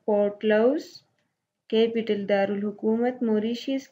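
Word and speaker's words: Port Louis: Pronounce it पोर्ट लाउस।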